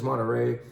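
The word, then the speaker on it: Monterrei: this is an area called monterey sounds like our monterey right it's spelled slightly differently but uh the the region is monterey and the great variety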